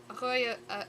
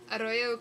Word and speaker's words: arroyo: Arroyo, oh right, you roll your R's.